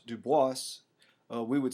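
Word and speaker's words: Du Bois: he wanted to pronounce dubas uh we would say Dubois because We're from south Louisiana that's the actual pronunciation but he liked the pronunciation with the S he was the first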